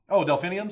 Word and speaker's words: delphinium: Delphiniums?